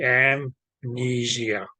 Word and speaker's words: amnesia: Yes, okay, it's going to be the A and M will be pronounced together. So it's going to be amnesia. Is that clear?